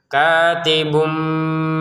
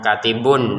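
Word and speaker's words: كاتب: 1 harokat saja, kemudian diberi mim kecil sebagaimana cara bacanya itu bukan katibun lagi, tapi katibum dengan samarnya katibum bil adl.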